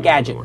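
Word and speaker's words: GDGT: the Twitter handle is GD GT Gadget like Gadget without the vows if you want to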